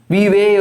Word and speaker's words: vive: Vive, or pronounced as Viva also.